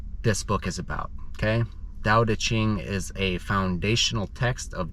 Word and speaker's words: Tao Te Ching: If you read it, it looks like it should be called the Tao Te Ching, but it's pronounced Tao Te Ching, Tao Te Ching, okay?